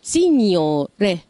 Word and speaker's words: signore: هنا زي ما شوفنا برضو ان حطينا حرف الجي وراء حرف الان ما نطقناش حرف الجي ولكن غيرنا من حالة حرف الان وخليناها شوية مكسورة فبقت ين signore.